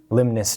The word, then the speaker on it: Limnus: Um, he'll say, "My name is Limnus Drade." Limnus. Limnus. Drade. Limus. That's spelled.